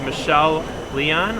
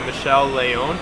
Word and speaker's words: Michelle Leon: first guest here at imts her name is michelle leon or if you want to pronounce it the right way it's actually michelle leone she's the operations manager for laville technology doing